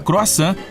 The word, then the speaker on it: croissant: Lá existe uma enorme variedade deles, incluindo aquela delícia chamada croissant, que quase todo mundo não sabe pronunciar direito. E aí, consegui? Talvez eu deva usar um sotaque francês.